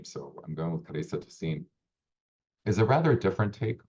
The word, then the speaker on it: Clarissa Tossin: That is how I heard she pronounced her name. So I'm going with Clarissa Tossin.